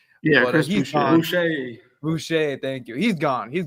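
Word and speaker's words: Boucher: I think Cruz uh Chris Bashar I can't forget I keep I can't say his name but he's gone Bucher thank you he's gone he's gone from there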